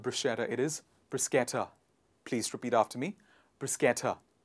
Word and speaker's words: bruschetta: of fillings etc toppings etc and it is pronounced as brisketter a lot of people pronounce it as bruschetta it is not bruschetta it is brisketta please repeat after me bruschetta the next one